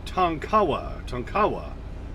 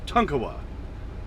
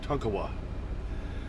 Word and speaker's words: Tonkawa: When I used to say Tonkawa, and somebody corrected me in the comments saying, no, it's Tonkawa. So like your toy truck as a kid, Tonka, just add a wa, Tonkawa.